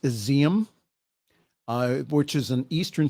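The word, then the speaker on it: Izium: graves at a mass burial site in it's pronounced exium uh which is an eastern city reportedly recaptured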